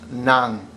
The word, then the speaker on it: ng: And by the way, here, spelled nang, but pronounced nang.